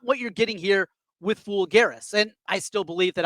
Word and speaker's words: Folgueiras: Fool Garris is how you pronounce his last name.